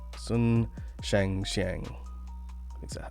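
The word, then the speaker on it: Sun Shangxiang: Sun Shang Xiang.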